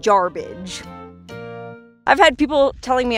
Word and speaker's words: Jarbidge: can't pronounce it so the first white man that rolled into garbage thought it sounded like garbage and well that's why we call it garbage i've had people telling